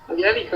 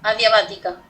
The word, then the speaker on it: adiabática: La última que dijo no me acuerdo cómo era, adiálica, ¿no? No, pero la tenés anotada en tu cuaderno o no. Sí, la tengo anotada, pero no entendí cómo es que se pronuncia. Adiabática.